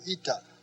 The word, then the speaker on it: eta: zeta then after zeeta comes ita just like our english n come down a little bit below the line and that is a long e sound e e as in feet just like in english